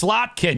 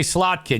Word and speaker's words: Slotkin: to say it right it's it's slotkin you got to say slotkin you can't say SL